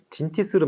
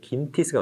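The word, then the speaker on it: Gintis: 네, 요거를 진티스로 많이 쓰셨더라고요. 근데 실제 발음은 긴티스가 맞습니다.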